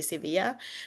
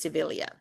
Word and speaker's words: Sevilla: But I know in Spanish it's gonna be Sevilla, but in our language it's Sevilla, because the yeah. two L's is an L instead of a Y.